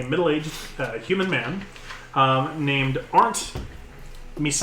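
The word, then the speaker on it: Misains: human man um named aren't Ms I think that's how I pronounce that like these aren't me signs m i s a i ns German name um and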